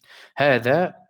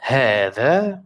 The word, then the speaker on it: هذا: هذا, there is no alif here, but it's pronounced this way. We'll come to that next lesson, inshallah. So this is pronounced هذا, which means this is.